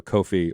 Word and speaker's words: Ko-fi: I have a Ko-fi, or coffee apparently, as it's meant to be pronounced.